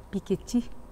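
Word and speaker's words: Piketty: publicação do livro de Tomás PI piqueti que é a pronúncia correta bom no Brasil os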